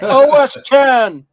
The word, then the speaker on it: OS X: Maybe you need one of these to learn Mac OS X, as it's proudly pronounced. Oh, retro techie. I pronounced it that way once on Mac. Yeah, I got yelled at. That's hilarious. Who's this? It's OS 10.